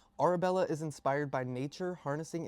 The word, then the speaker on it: Orebella: It's Arabella. Like a u r a like your aura, right? Orabella.